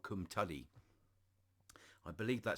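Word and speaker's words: Cwmtudu: can but uh but in English it's called kumtali that's how it's pronounced um yeah uh this was the first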